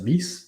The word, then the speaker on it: Rhys: Reese says, I assume that's how you pronounce it. Reese, right? That's how I've heard RHYS be pronounced before.